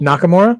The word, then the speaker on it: Nakamura: with kakamura how do you say his name Nakamura Nakamura yes him AJ yeah actually you know when Nakamura first showed up uhuh um he and AJ wrestled for the title one year okay but then um Nakamura hit him in the junk and got and